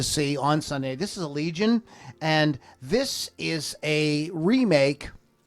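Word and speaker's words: Allegaeon: That's the band Allegiant. You have to say it like that.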